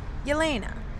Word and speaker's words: Yelena: spelling of my name my name is actually spelled with a y so that it's pronounced correctly yalena I love my garden